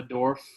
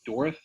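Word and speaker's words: Dourif: I thought that Fiona Dorff, is that how you say it? Dorff? Like, hold the R.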